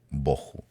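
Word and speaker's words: בֹהוּ: la palabra 922 boju algunas personas les dicen el tahu y el baju pero está mal pronunciado la verdad es de que es toju y boju a veces cuando uno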